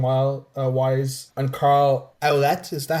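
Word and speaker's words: Ouellet: And Carl Owlette, is that how they pronounce it? Olette orlette. Oollette. Olette.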